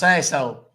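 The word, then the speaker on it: Sasohl: right and last name it's s a s o h l it's pronounced sasshole I was just talking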